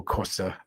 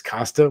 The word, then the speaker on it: Costa: school guy but yeah he says Polo Costa and it's always funny because I know that's the way you're supposed to pronounce it but from my neck of the woods we have a I grew up in a very Portuguese neighborhood and it's Casta we all say Casta that's the Anno englanders